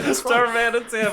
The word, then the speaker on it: Darmanitan: Duramitan. That's right. Darmanitan, but I Oh, didn't say it right. Darmanitan. Yeah, I didn't say it Darmanitan.